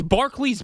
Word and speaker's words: Barclays: No one has ever called has ever heard it called the Barclay Center.